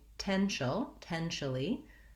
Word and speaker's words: potential: The 10 sound has the red tent vowel, like in men, and the word ten or tent.